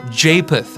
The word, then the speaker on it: Japheth: Japheth. I'll pronounce it for everyone.